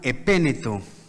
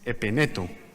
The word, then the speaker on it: Epeneto: Saluden a mi hermano Epéneto, el primer convertido a Cristo en la provincia de Asia. Creo que está mal pronunciado, ¿no? Es Epeneto, Epeneto.